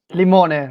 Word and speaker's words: Limone: Limone, right.